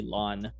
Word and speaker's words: ln: If you've ever noticed, it's actually ln. If you see the ln key on your keyboard, that's how you say it, right? LN.